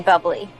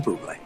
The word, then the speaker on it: Bublé: You mean bubbly. No, I mean buble. You're Michael Bublé. That's a bubbly. She's right, Michael Bublé. It's pronounced buble.